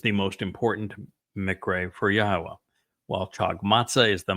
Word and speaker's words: Yahowah: Yahowah is the Almighty's proper designation, pronounced as instructed in his Torah, which he's writing inside of us.